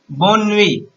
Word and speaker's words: bonne nuit: How to pronounce it is bonne nuit.